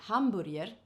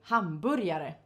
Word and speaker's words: hamburger: dallas land and hamburier we spell it exactly like the english spelling of the food hamburger but in swedish we say hamburir and about the food we say hamburyare so even though it